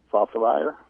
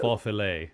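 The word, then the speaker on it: Faufiler: Khaleesi, and Fossilire. Fossilire, I can't pronounce that horse, F-A-U-F-I-L-E-R. I think they call it Faux Filet.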